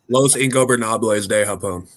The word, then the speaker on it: Los Ingobernables de Japón: Their feud with Los Ingobernales de Japón is legendary, and I butchered the hell out of that.